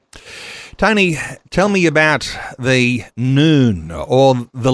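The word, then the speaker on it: نون: It's pronounced noon, when its fighters overran parts of Iraq.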